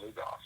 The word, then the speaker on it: Lugoff: He used to live over in Melbourne, but once I started working with Hacksaw, he was living up in I think it's pronounced Lugoff, like Lugoff, South Carolina.